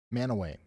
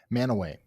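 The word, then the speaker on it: Mantua: Manway. Okay, I'll record it. Man away. I'll never get it wrong again. Manowway.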